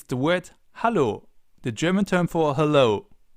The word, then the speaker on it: Hallo: But the pronunciation is a little different, so let's listen and repeat. Hallo. Hallo.